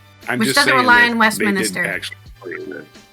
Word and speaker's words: Westminster: I urge the Labor government at Westminsterly approach. Huh? It's pronounced Westminster. It's not Minister. Westminster. There's no extra I. You're putting an extra I in there.